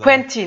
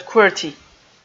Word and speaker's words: Quenty: Quenty, not QWERTY.